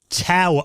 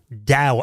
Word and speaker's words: TAOS: thought this was called Tau OS because I read this for years it's spelled t-a-o-s turns out Chris teaches me that it's actually pronounced Dao OS but this was something